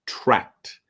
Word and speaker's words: tracked: But the past tense is tracked with the T sound, tracked.